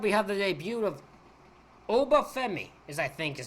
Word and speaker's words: Obafemi: Next up, we have the debut of Obafemi, is how you say his name, versus Ola Mensa.